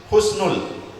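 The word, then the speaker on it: حسن: Hati-hati dalam pengucapan husnul khotimah, ibu-ibu sekalian. Kalau kita menggunakan ha, sin, nun, husnul, asal katanya adalah dalam bahasa Arab hasana yuhsinu ahsin, kebaikan. Kalau kita ucapkan husnul pakai ho, sa, nun, ho, sin, nun, itu artinya kehinaan.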